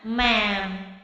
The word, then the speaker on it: ma'am: Kalau bukan ibu kandung, memanggilnya ma'am. Tulisannya bagaimana ma'am? M-A-M atau M-A koma atas M, ya, itu bacanya ma'am.